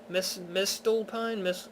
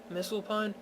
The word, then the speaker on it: Misselpine: Mistelpine? I think the T is silent. Misselpine.